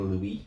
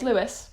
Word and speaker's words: Lewis: Are we sure that's a Lewis, not a Louis? Well, it's spelled Lewis, so it's Lewis.